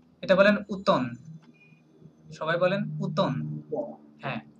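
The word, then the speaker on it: automne: বলেন উতন সবাই বলেন উতন হ্যাঁ উতন আমরা হচ্ছে ইংরেজিতে বলি অটাম রাইট ফ্রেঞ্চে বলে কি উতন হ্যাঁ এমটা হচ্ছে সাইলেন্ট ওকে এম সাইলেন্ট ইয়েস উতন উতন ওকে উতন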